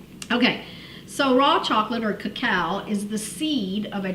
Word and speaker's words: cacao: and oopsie and they the British could not pronounce cacao so they called it cocoa is when we get cocoa or chocolate from so it's actually cacao so let's talk a